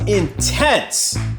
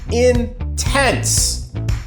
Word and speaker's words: intense: Try to spice it up a little more; the action was intense. Again, we have a lot of emphasize on the adjective at the end with the stress falling on the last syllable; inTENSE. The action was intense.